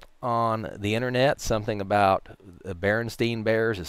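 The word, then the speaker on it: Berenstain: was sta IN and it was pronounced Berenstein because it's a German name and in Germany when you have two vials together the second does the talking so I started reading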